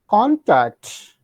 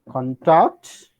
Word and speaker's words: contact: For example, if I say contact, contact, contact is noun, contact is verb.